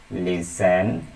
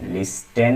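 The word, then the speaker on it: listen: লিস্টেন হবে না, হবে লিসেন। টি এর উচ্চারণ এখানে হবে না, কি হবে? লিসেন।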